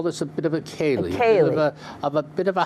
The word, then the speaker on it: Ceilidh: didn't know how to pronounce that word. I know, I've Ceilidh. seen it. Ceilidh. Ceilidh.